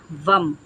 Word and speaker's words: வம்: அதோடைய மந்திரம் பார்த்திங்கன்னா வம், விஏஎம், வம் வம் அப்படின்னு அதை ப்ரொனவுன்ஸ் பண்ணணும்.